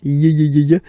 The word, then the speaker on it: juillet: Juillet. Juillet. Don't pronounce this final T, E-T here at the end.